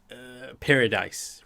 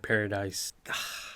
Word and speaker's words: Paradis: And I believe they pronounce it paradis. I had to go back and pick it up and listen to it a few times. It sounded like they were calling it paradis.